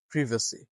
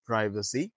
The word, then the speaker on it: privacy: প্রাইভেসি follow British British প্রিভেসি repeat after মিসিভেসি বাট ইফ you follow American Xcent then it's প্রাইভেসি নো ওয়ারিস তার মানে British এক্সেন্টে আসলে এটা প্রিভেসি আপনি যদি British এক্সেন্টে